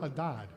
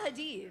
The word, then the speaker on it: Hadid: This beautiful model, her name is Bella Haddad. It's Oh, what? Bella Hadid. Oh, Bella Hadid.